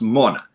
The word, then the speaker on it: Mona: It's pronounced Mona, which is the right way to say it, because that's the way the Irish say it.